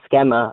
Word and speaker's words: schema: Okay, define the schema of gender identity of a woman. The schema? It's pronounced schema.